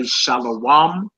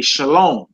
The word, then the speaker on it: shalom: you'll see oh okay that's why they say shalom instead of shalawam but it's spelled the exact same way it's just some people